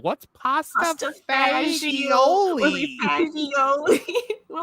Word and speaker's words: pasta fagioli: and they're like, "What's pasta fagioli?" Fagioli. We're like, That's not how you And say they're it. like, no, it's pronounced. I remember I said it's pronounced pasta vazul.